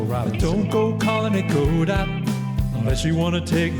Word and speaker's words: Godot: I pronounce it Godot, and I'm right.